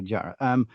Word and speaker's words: GYRA: At the risk of pronouncing it wrong, it's gyro golf, correct? Yes, GYRA golf, yes. Okay, gyro.